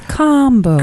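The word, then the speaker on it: Kambo: Yeah, I thought it was Cambo, but she kept pronouncing it as combo.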